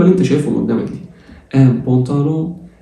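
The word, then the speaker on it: pantalon: ان بونتالون الا مع الان بتتنطق اون.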